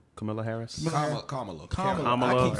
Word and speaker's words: Kamala: Kamala. Kamala. Kamala, I keep saying her Camila, name wrong.